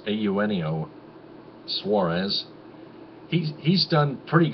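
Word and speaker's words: Eugenio: ahead in the on the scoreboard also shortstop auneo suarez that's how you pronounce it a you neo it's spelled e-u-g-e-n-i-o but it's pronounced ayunio suarez he's he's done pretty good as the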